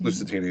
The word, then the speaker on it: Lusitania: So another theory was that it was switched with the Lusitania. Is that how you say it? Lusitania, yeah.